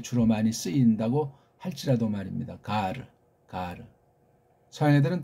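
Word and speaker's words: γάρ: 가르 가르 서양애들은 또 그런에 의자라는 보험이 없다 보니까 갈 갈 갈 근데 이걸 또 우린 또 잘못 기동리냐니까 갈로 이렇게 하는 사람이 있어.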